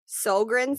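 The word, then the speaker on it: Sjögren: for what's it called sogren syndrome but it's spelt how you would not expect it s j o g r e n syndrome but he said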